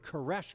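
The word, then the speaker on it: Koresh: he used the new the Old Testament Hebrew pronunciation of the of the name Cyrus. So that's where the word caresh comes from.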